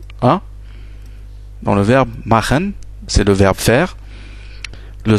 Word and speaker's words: machen: le pronom je, et ça se prononce ch, c'est notre son en allemand, vocal, mais on peut le prononcer en français comme dans le mot prémisse. Donc la prononciation du R dans le mot prémisse nous fait en fait sortir ce son ch, comme dans le verbe machen.